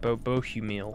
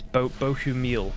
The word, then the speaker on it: Bohumil: Bohumil, that's his name. That's how you say it. Bohumil. I thought it was like Bohumil or Bohumil or something. It's Bohumil. Okay.